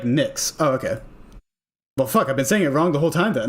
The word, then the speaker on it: Nyx: Uh, it's like Nyx.